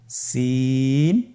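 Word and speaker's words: سين: বাকি দুইটি হরফ নাম হল সিন এবংশিন। সিন এবংশিন। সিন হরফটি উচ্চারণ ক্ষেত্রে অবশ্যই তিন আলিফ টেনে পড়তে হবে। সিন হরফটি বারিক হরফ পাতলা করে উচ্চারণ করতে হবে।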